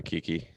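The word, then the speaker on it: Kiké: because of the way it's spelled. Kiki, Kike. Yeah. Kiki. That's how you say it.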